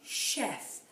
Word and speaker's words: chef: some words where this c h is actually making a sh sound like chef and chalet and those are words that have come into our language from the french language which is why they're pronounced slightly differently now you won't find